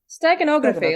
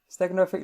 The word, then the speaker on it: steganography: you pronounce it again steganography like stegosaurus steganography like stegosaurus that is